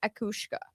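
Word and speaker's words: each-uisge: Um but it's pronounced akushka.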